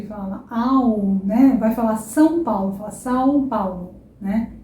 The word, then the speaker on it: São Paulo: São Paulo. Não tenha medo de ser nasal. O som é nasal, tá? É nasal.